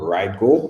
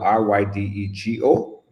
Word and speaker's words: Ridego: So go to the App Store right now and download Ride Go. It's spelled Ridego.